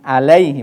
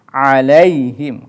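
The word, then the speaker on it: عليهم: karena dibaca kasrah ya perhatikan ainnya juga Jangan sampai salah atau keliru jangan alay tapi alayhim karena ayahnya berharakat Sukun dan suhunya ketika pengucapan him itu juga harus izhar atau jelas karena mimnya bertemu dengan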